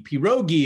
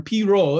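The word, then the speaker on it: pirogue: Pierogi is how you want to say it, but that's a Polish savory pastry. Well, it can be sweet, but it's usually savory. So it's a French term. Piro is how they say it in New Orleans.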